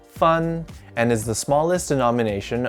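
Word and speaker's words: 分: a division of grades lastly this character is pronounced fun and is the smallest denomination of chinese currency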